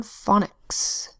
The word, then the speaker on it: phonics: Next word, phonics. Spelled with P-H-O-N, first syllable fawn, closed syllable, so the O makes a short sound, ah. Second syllable, X, just like physics.